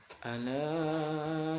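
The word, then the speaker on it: أَلَا: Jadi ala itu di atasnya lam ada perahu gitu, tadi panjang. Ala innahum itu ditahan karena nun tanwin ditahan, jadi dengung dia.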